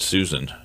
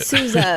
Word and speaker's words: Sousa: s-o-u-s-a-i-n-s dot com because when i heard it in my head i think i said susan so i want to spell that out you said souza but okay it's good to